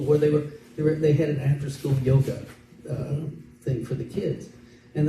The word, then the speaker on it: yoga: If you take the word yoga and in correct pronunciation, Y, when it begins a word, actually is pronounced as a J, so it's actually called yoga.